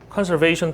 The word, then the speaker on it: conservation: 왜냐면 조정수 선생님은 conservation 발음이 좀 잘못되시네요. conservation 이런 식으로 발음하시더라고요. S 발음인데 이건 다 Z 발음으로 하시더라고요.